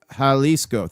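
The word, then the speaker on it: Jalisco: Hlesco is pronounced Haliscoco.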